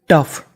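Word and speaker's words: tough: इन का मतलब में टफ टी ओ यू जी एच टफ।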